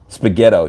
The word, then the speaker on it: Spaghetto: Spaghetto, yeah. It sounds like you're taking ghetto and spaghetti and put them together.